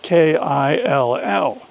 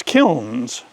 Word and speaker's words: kiln: word kill was spelled K-I-L-L. That's the way my mother taught me to pronounce that word. It is spelled K-I-L-N, but she instructed me as a child that the correct pronunciation is kill.